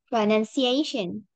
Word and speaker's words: pronunciation: Pronunciation. Yes, much better. Pronunciation. Because the reason we go down on the non-stress syllable is that we want to really emphasize on the stress one.